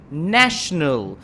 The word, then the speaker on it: national: shark shark Eric Lee you're not pronouncing the shot exactly as it should be like globalization globalization national national so listen and repeat after me national that's not international International yessir tried to pronounce the shock hundred-percent clearly and properly okay a national good